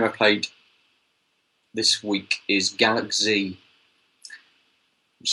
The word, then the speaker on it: Galak-Z: So the only other game I played this week is Galak-Z. Which sounds odd. Galak-Z? It's Galak-Z. As in Gaelic? As in it's meant to sound like Galaxy.